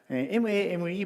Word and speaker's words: mame: M-A-M-E pronounces mame in Japanese, not mame.